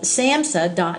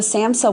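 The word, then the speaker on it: SAMHSA: another group called it's an online group called Samsa gov and it's a government agency and it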